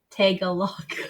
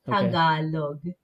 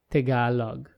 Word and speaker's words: Tagalog: the the dialogue okay so a white person would pronounce it take a look no I'm not gonna say that I can't no but in the Philippines the vowels are very blunt so it's Tagalog Tagalog yes very good yeah